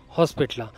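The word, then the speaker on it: Hosapete: हमपीला शेवटचा क्च्युली ना याचा उच्चार बरेच जण करायला चुकतात याचा spelling H ओ एस ए पी इटी होसा पेटे म्हणतात पण ते होसा पेटे नसून होस पेटे जंक्शन असं प्रोनन्सिएशन केलं पाहिजे आणि होसपेटे जंक्शनच्याच बाहेर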